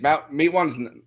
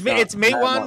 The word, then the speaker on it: Matewan: Like company towns, and Matewan is not the, like anywhere close to the, like Matewan's. I keep pronouncing it wrong. It's Matewan, but I thought it was Matewan for like.